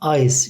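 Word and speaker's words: Eis: Burada e-i'ye i diyoruz. Sonra s-i de eklediğimiz zaman ice şeklinde okunuyor.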